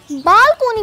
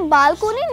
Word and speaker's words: balcony: नाम देंगे सिंपल बलक लेकिन हम लोग इस लफ्ज को बालकोनी पढ़ते हैं जबकि यह बालकनी नहीं है it pronounced as बालकनी बी ए एल सी ओ एन वाई बालकनी mobile phone तो आप